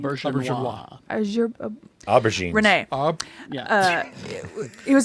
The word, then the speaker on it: Auberjonois: Auberjonois.